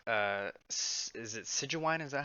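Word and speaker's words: Sigewinne: I really like is it Sijuwine? Is that how you say it? Sijuine. Sijuine.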